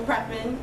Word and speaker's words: Prepon: If I was ever to become a lesbian, it would be because Alex Voss, aka Laura Prepon, is that how you pronounce her last name?